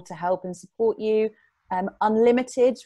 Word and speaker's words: UnLtd: Unlimited, which is spelled UNLTD, that's a company that we have worked with previously that also supports budding social entrepreneurs.